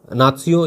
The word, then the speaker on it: नात्सियों: व नात्सियों यानी नाजियों, पहले देखिए नाजियों नाम आप सुना होगा, अभी आप एनसीईआरटी में पढ़ेंगे तो आपको नात्सियों इस प्रकार से उच्चारण जो जर्मन में होता है वही आपको शब्द मिलते हैं।